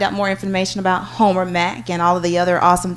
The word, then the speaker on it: Mc: mercy of love and Homer h o m e r Mac pronounced Mac but it's MC so if you do